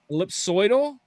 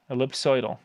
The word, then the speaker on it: ellipsoidal: l l i p s o l ellip ellipsoidal ellipsoidal yeah that sounds like something you would go